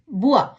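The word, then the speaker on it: bois: இந்த வா என்ற சத்தத்தை எப்படி உச்சரிக்கணும்னு பாப்போமா? பே ஓ இ எஸ் புவா, பலகை அல்லது தோப்பு, மரங்கள் நிறைந்த தோப்பு.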